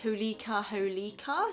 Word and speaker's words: Holika Holika: I believe the brand is pronounced Holika Holika.